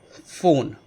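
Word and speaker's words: phone: तीसरा एग्जाम्पल है फ़ोन या फ़ोटो, ठीक है। तो स्पेलिंग पी एच से शुरू होगी पर उसका जो साउंड है वो फ आपको मिलेगा।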